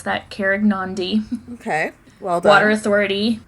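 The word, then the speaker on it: Karegnondi: I did look up how to pronounce that, Carignan.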